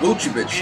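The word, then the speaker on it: Vučević: Nikola Vucevic. That's how you pronounce his name.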